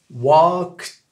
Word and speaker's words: walked: Tu prononces, comme au début, le fameux walk, avec le K à l'américaine, walk. Et à la fin, tu rajoutes un t.